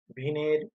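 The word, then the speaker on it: Wien: সরণ সূত্রে বিজ্ঞানী ভিন, যার উচ্চারণ এখানে দেখো তোমরা, একটা জার্মান উচ্চারণ, সেখান থেকে এটাকে উচ্চারণটা এভাবে আমরা ভিন বলে থাকি, আসলে WEIN।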